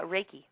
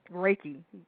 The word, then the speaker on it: Reiki: LIF style and is this reai am I pronouncing that right oh uh raiki raiki okay tell me about that well I do